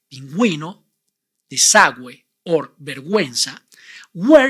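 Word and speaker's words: vergüenza: inguino the Subway or verguenza where you must pronounce the vowel ooh even when it goes after the consonant and before the vowels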